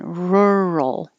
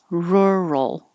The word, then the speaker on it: rural: stressed syllable burrow rural this is tricky but keep your tongue in the r position almost the whole time